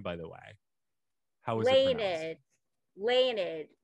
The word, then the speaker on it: Leinad: name by the way leonard it's just my it's just my husband's name backwards daniel it's uh when we